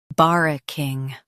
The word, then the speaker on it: barracking: bar uh king barracking Stress bar and keep uh light. The king is pronounced like king.